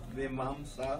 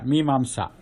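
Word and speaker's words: Mīmāṃsā: So how do you say that? Purva Mimamsa. Vimamsa? Yeah, Mimamsa. Oh, Mimamsa. Like the word Jijnasa Right.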